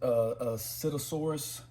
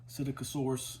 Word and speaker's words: Psittacosaurus: I think they pronounce it Psittacosaurus. Psittacosaurus.